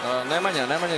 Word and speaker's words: Nemanja: Nemanja is okay, yeah.